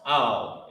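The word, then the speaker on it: אל: The character ah and the character la connected, owl. That's how it's pronounced, owl, A-H-L.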